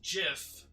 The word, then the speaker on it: GIF: word speech was this it's pronounced jiff not gif and yes that's how